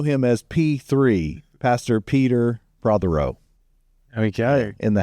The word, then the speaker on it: Prothero: Pastor Jonathan Prothero. Yes. And we have a special guest with us today, the father of the great Jonathan Prothero. We also know him as P3, Pastor Peter Prothero.